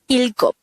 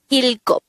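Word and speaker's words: 일곱: Next, the native Korean version of number 7 is ilgop. Again, ilgop. This is pronounced as a two-syllable word. The first syllable is il, the second syllable is gop.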